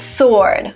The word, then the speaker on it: sword: The next word is sword. Sword is a weapon. A weapon which is written with a W, but you don't pronounce this W.